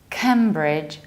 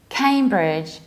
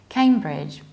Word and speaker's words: Cambridge: and this is not kimbridge but Cambridge came Cambridge so you pronounce it like came like I came back Cambridge I came back to